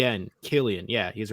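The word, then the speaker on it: Cillian: i l l then d e d en Killian yeah he's right okay yeah don't don't be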